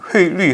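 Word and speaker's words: 汇率: 여기 회리 하면은 환율입니다. 예, 중국에서는 회리라는 말을 이제 한국의 환율을 한어 발음으로 읽으면은 뭐 환류가 되겠지만 중국에서는 이제 어휘의 휘자인데 회리라는 용어를 씁니다.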